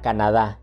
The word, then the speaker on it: Canadá: mayor claridad por ejemplo la palabra canadá en inglés se pronuncia de forma esdrújula canadá y en español la pronunciamos de forma aguda canadá y no suena tan